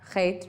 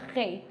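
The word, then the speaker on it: חטא: Chet, right? Do we write what chet means? Did I write the word chet? I wrote it yesterday, right? Ches, tes, aleph. The aleph is silent.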